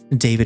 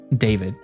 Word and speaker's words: Dawid: All right, let's see what horrors David is subjecting me to. That looks very David or David as it's supposed to be pronounced apparently.